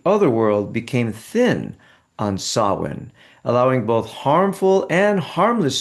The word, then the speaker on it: Samhain: So, the modern holiday of Halloween has its roots in both the Celtic celebration of Samhain and the Christian holiday of All Saints' Day. So, Samhain, which is spelled Samhain, means the end of summer, and